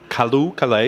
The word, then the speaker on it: Callooh Callay: It took about 3 days for me to pronounce the name of the band. Callooh, Callay.